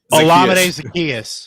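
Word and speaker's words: Olamide Zaccheaus: gage or uh kevin what's how do you pronounce his name olamide zacchaeus yes thank you kevin's the the resident pronunciation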